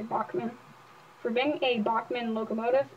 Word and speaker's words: Bachmann: instructions and on this it specifically says your Bachman DCC equipped locomotive is also 100% backwards compatible